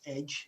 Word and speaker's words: EDJ: The details is EDJ Publishing, and if you're telling anybody, you can pronounce it as Edge.